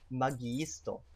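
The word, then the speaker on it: magiisto: a muggy stop now you notice there's two eyes there when you encounter two eyes in Esperanto you actually have to pronounce both so it's muggy store you notice it's e.e you gotta hit both of those eyes okay the next one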